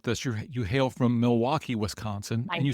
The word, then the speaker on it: Milwaukee: So, we're headquartered here in Milwaukee, Wisconsin.